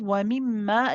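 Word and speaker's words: وَمِمَّا: for the last part, we have wa mimma, again, the mim mushaddad, it has akmal gunna, we prolong the joining.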